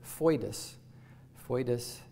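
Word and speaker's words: foedus: bit less frequent uh is the Latin word fo Fus it's spelled f o d f OE d s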